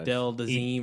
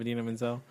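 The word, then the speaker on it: Idina Menzel: My biggest thing from Frozen is John Travolta mispronouncing the girl's name. That's the thing I remember most, and I like the most. Adele Dazeem or something like that. Instead of Adina Menzel.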